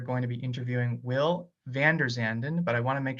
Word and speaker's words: VanderZanden: today we are going to be interviewing will vanderzanden but I want to make sure that I pronounce to your last name correct yeah you